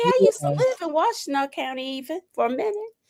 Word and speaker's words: Washtenaw: It's pronounced Washtenaw. Oh, Washtenaw County. Okay, I used to live in Washtenaw County even for a minute.